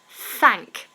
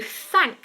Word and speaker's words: thank: And then you thank someone, and that's a TH.